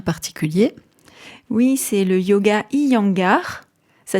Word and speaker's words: Iyengar: de yoga bien particulier oui c'est le yoga iangar ça s'écrit i y e n G a R